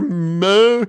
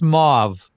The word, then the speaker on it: mauve: how to pronounce it how do you pronounce the color moo it it's all right coming out of my mouth nerve I believe I believe it's mauve what no look it